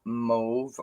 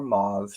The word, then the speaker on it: mauve: we have this gorgeous color of move or mauve depending on how you want to pronounce it enjoy clear hearing